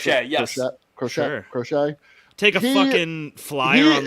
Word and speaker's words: Crochet: I was gonna say Garrett Crochet, or is that how we pronounce Crochet, it? yes. Crochet.